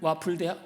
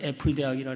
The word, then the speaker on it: 와플대학: 와플 와플 와플대학 와플대 제가 자꾸 발음을 애플 대학이라 그랬더니 누가 자꾸 애플 대학이 아니고 와플이라고 와플 와플 있잖아요.